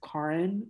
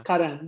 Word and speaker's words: Karan: So now I feel like I say my name as Karan, which is so bad because it's not, it's Karan, but like, you know, whatever.